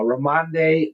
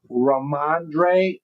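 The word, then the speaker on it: Rhamondre: Uh uh Ramande Ram Stevenson. Did I say it right? Let's see. Raandre.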